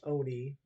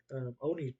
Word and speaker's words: ONI: in the show um it's always been pronounced Oni I think it's never been o ni unless you're just like spelling it out loud you know it's just